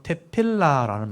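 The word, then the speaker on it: תפילה: 보시면 익숙해지실 거예요 아마 이게 테에 발음이거든요 태 피 발음이고이 발음이고 리얼 라아 발음이고 이건 히읗 발음 테필라 테필라 이렇게 하는 거예요 테필라 테필라한테 기도라는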